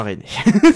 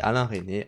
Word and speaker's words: Resnais: Et du coup, C'est Alain René. La culture, c'est une performance absolue. Il faut bien prononcer les prénoms, sinon tu arrêtes ta vidéo.